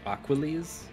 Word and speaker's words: Aquales: aqu aqu aqu um I choose to pronounce it like Hercules aquiles okay um I know